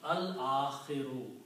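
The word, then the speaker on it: الْآخِرِ: And this will be pronounced al-akhiru, because al changes two dhammas into one. So this will become al and akhiru. Two dhammas will change into one because of the al. This is standard. Al-akhiru means the last.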